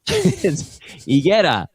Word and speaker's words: Higuera: I just realized things about the area that like people pronounce things wrong, like intentionally, like the main drag of San Luis Obispo is called Higuera Street, and it's Higuera.